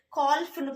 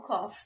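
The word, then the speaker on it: calf: Next one, எல் is also silent before F. F, okay, எல்லோட எஃப் சேர்ந்து வரும்போது, எல்லுக்கு அப்புறம் எஃப் வரும்போது அங்க எல் சைலண்ட் ஆகுது. ஓகே, கால்ஃப்னு படிக்க மாட்டோம், காஃப் தான். காஃப், ஆஃப், காஃப்னு படிப்போம். ஓகேங்களா?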